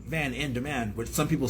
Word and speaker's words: VanN Demand: it sounds smoother instead of just being like Van in demand, which some people say, because it doesn't change phonetically how it sounds, but I capitalize the